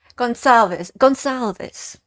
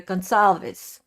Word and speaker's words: Gonsalves: So Gonsalves, it's a S, not a K.